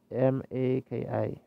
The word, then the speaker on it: Maki: You pronounce it M-A-K-I.